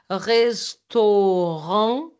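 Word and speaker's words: restaurant: Você viu a pronúncia? Restoron. Eu não falei t no final, tá?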